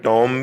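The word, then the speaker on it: tomb: Students ख्याल करें, इसको बी तो वैसे नहीं पढ़ना कि जहाँ भी M और B इकट्ठा आए B साइलेंट हो जाता है, लेकिन टॉम भी नहीं पढ़ना, इसको टूम पढ़ना है, डबल ओ वाली आवाज़ निकालनी है।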